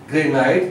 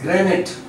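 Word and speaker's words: granite: This word is नॉट ग्रेनाइट, this is ग्रेनाइट. This is a sound and this is E sound, ग्रेनाइट.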